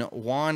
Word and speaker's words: Juan: It's actually Juan, and you've said it right.